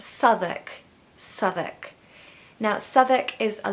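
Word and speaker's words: Southwark: this is actually the most difficult one to pronounce because it's just so confusing I hear people saying South walk south walk but no it's Southwick Southwick now Southwick is a lovely area of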